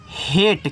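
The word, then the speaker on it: hate: से आपका ट भैया इ का उच्चारण तो होता नहीं तो यहां पे हेट हो गया और हेट का मतलब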